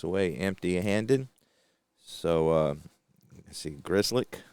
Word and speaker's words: Grzelcyk: So, let's see, Grzelcyk, I think is how you pronounce his name. Let me double-check that. Again, I looked into it, but forgot. Grzelcyk, yep.